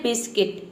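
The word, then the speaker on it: biscuit: मतलब होता है गिटार अगला वर्ड है बिस्किट बिस्किट मतलब होता है बिस्कुट देखिए यहां पे यू के बाद आई आया है अगला वर्ड है गार्ड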